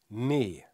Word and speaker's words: nee: nein aus na ja das E wird doppelt geschrieben dann ist das ein langes e nee in der Realität sagen aber viele Niederländer ne am Ende hört man so ein J Klang ne oder auch schon mal neö warum reden die nicht